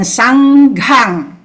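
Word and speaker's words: Saṅghaṃ: Saranang, then Dhammang, then Sanghang.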